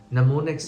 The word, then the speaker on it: mnemonics: to use mnemonics ဒီမှာကြည့်ပါတော့ m နဲ့စပေမဲ့ m က silent letter เนาะအဲ့တော့ m ကိုကျွန်တော်တို့အတန်မထွက်ဘူးเนาะက n ကနေစပြီးထွက်တော့ mnemonics လို့ခေါ်တယ်mnemonics လို့မဟုတ်ဘူးเนาะအဲ့လိုမျိုးထွက်တာမျိုးရှိတယ် mnemonics ဆိုတာကတခုခုကိုမှတ်မိဖို့အတွက်သုံးတဲ့မှတ်ဉာဏ်နည်းစနစ်တွေပေါ့เนาะအဲ့တော့တကယ်လို့ Google မှာရှာကြည့်ရင် mnemonic devices